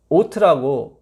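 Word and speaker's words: אות: 오트라고 무지개가 증거가 오트거든요. 오토매틱 아시죠? 예, 발음이 똑같아요.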